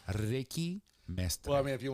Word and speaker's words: Mastre: My name has been mispronounced so many times. Some people say Ricky Master, Ricky Mystery, Miss Ricky, you know. Oh, Mr. I know. But it's Mastre? Mestre.